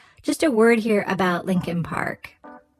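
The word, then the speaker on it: Leakin Park: a word here about Lincoln Park it's actually spelled leak Park l e a k i n but almost everyone in Baltimore pronounces it Lincoln Park it's huge over a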